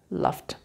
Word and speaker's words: laughed: Laughed. So they are unvoiced sounds. So if they finish with these sounds, actually they have what sound? T sound. So they are pronounced T, and E is silent.